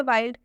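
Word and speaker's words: wild: एक last example देखिए वाइल्ड वाइल्ड में भी आई है और आई के बाद से एलडी आया है वाइल्ड में आई के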